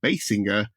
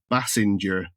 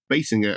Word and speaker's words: Basinger: being corrected several times he continued to mispronounce the surname of Peter's girlfriend Kim Basinger as Bassinger The Fallout led to